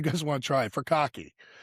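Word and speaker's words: furikake: So for some of you guys want to try it, furkake. Please make sure you say it correctly. Don't go in the grocery store looking for bukkake.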